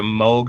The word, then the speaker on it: Moog: like casio synthesizers as opposed to like a moog or something um i would say hold on